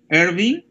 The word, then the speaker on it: Erwin: Entonces, esta ecuación, mire, fue formulada por el físico austriaco, aquí se lo dice, Erwin. Acuérdense que la W en alemán se pronuncia como V de vaca, ¿eh?